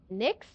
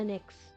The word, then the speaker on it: Nyx: I would have is not the name of a good not a really good name for a drink, but Nyx.